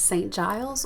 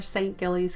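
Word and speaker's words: St Giles: down from hume is saint giles or saint gilley's cathedral its pronunciation depends on who you ask although the architecture is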